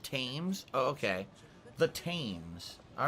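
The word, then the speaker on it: Thames: yourself comfortable oh the the h in fames is silent it's it's called tames oh okay the tames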